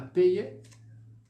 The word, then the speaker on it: payer: Então você vai pronunciar apenas o ezinho, o R, ó, muet, toujours. Todos esses verbos com o sufixo ER, você não os pronuncia. Fica então sempre, por exemplo, manger, parler, étudier, payer, tá bom? Nada de payer, étudier, d'accord?